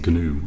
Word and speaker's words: GNU: G compiler um the the G is actually pronounced in gnu I believe um it's some sort